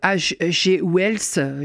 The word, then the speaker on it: Wells: C'est l'œuvre de H.G. Wells, je le prononce à la française, La guerre des mondes, paru aux éditions Gallimard.